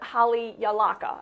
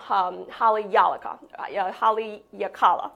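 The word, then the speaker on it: Haleakalā: So on the island of Maui, the active volcano to know is the Haleakala. I'm saying it wrong. Haleakala. That's right.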